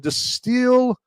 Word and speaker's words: Destihl: That is from Distill Brewery. That's spelled Destihl Brewery.